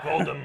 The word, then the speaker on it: Voldemort: And the T in Voldemort is silent, actually. What? Oh, you didn't know that? Voldemort.